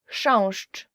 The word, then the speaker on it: Chrząszcz: Chrząszcz, beetle. So the first word is, and I promise you this is the most difficult word you will ever learn in Polish, as for the pronunciation, is chrząszcz.